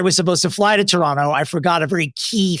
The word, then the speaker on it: Toronto: You know, I had no crowd in Toronto. Excuse me. I was also told it's pronounced Toronto, not Toronto. That's a tell, I guess, when you're there if you pronounce it Toronto, which explains why my wallet was stolen.